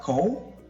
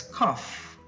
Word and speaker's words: cough: again cough it's not cold it's not cold but it's cuff just like laughs cuff example the dust made